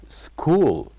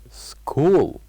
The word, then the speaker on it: school: this word with me school school so the word school has one silent letter what do you think that silent letter is of course it is letter uh H it is letter H and finally by having